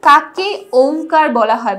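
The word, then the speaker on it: ওঁ: এই চন্দ্রবিন্দুর জন্যই কিন্তু একটা ময়ের উচ্চারণ হয়, ওম, কথাটা ওম হয়।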